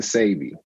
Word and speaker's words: Dr. Sebi: Like, what is the correct way to pronounce? Because I heard Sebi, Sebi, Sebi. Which one is correct? It's really Dr. Sebi.